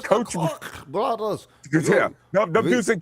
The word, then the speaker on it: Koch: Am I saying it right, guys? The Koch brother, the Koch brothers. It's The Koch brothers.